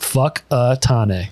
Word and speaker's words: Whakatane: It's pronounced Whakatane. I feel like you said well. And in parentheses, he goes, honest. That's fair. Honestly, it's Whakatane.